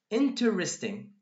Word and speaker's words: interesting: So 1, 2, 3, 4. We've got 4 syllables here, while here, exactly, we've got 3 syllables. So basically, 4 syllables goes down to 3 syllables.